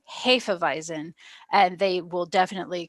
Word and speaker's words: Hefeweizen: and actually this whole time i've been saying half of eisen if you're ever around one of the widmer brothers technically is pronounced hafevizen and they will definitely correct you uh so